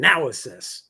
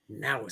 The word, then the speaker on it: Naosis: And I'll pronounce it wrong. Project Naosis. I will never say it wrong again. Naosis. That's all it took was hearing it. Naosis.